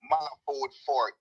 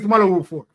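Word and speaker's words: Malahoo Forte: Malafort Fort. Yes. Fort was the justice. Malahu. Her name is Malahu Fort.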